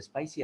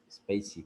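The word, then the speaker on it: spaCy: tiene el modelo de Spicy, al menos el modelo estándar de Spicy. No, es Spacey, creo. Creo que se pronuncia Spacey.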